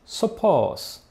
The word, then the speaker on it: σοφῶς: Por exemplo, em grego "sábio" se diz σοφός e "sabiamente" σοφῶς ou seja: a única diferença entre as duas palavras é que a segunda termina por uma sílaba longa, ao passo que a primeira, por uma curta.